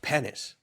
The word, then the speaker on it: Penis: Pennis, spelled P E N I S, but pronounced Pennis."